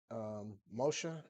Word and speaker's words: Moshe: Moshe is actually the Hebrew pronunciation for Holy Moses.